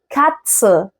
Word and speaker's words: Katze: التي والست مع بعض بيتنطقوا تس. زي ايه؟ zum Beispiel die Katze.